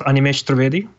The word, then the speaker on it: Animesh Trivedi: Yes, exactly. That's how it's pronounced, Animesh Trivedi.